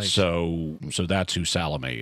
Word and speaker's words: Salome: so so that's who salome is um or salome to pronounce it the more american way um but she confesses